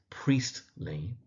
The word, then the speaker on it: Priestley: So, Meggarty, with the emphasis on the first syllable. Now, the author's name is J.B. Priestley, so the surname is Priestley.